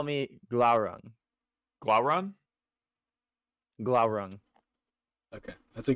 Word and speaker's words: Glaurung: that I think Glauron is his first name and Sprinkles is still his last name. How do you spell that for future reference? Glaurung.